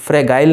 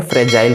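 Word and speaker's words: fragile: ध्यान से देखिएगा, यहाँ पे जी है तो इसे हम लोग फ्रेगाइल नहीं कहेंगे, फ्रेजाइल कहेंगे, इसे ज का उच्चारण होता है, ठीक है।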